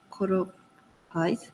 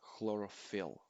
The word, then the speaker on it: chlorophyll: A is chlorophyll, B is carotenoids, C is antioxidants, D is melanin. Thank you very much, Mina. Just a little correction regarding pronunciation. The first one is chlorophyll.